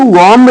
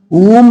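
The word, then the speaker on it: womb: अब इसको वॉम नहीं बोलेंगे, ऊम बोला जाएगा, ऊम, ऊम।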